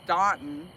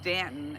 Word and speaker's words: Staunton: You know, man, everybody was calling it Stanton. And then I was trying to tell that story just that Yeah. you know, I was saying cuz it had the u in it. Yeah. And so to me that's Staunton. Yeah. And then Ginger said no, it's Stanton.